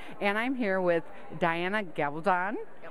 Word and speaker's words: Gabaldon: I'm here with Diana Gabaldon. Gabaldon. You know, I'm one of these years I'm going to say it right, but for years I said Gabaldon, so I totally messed it up.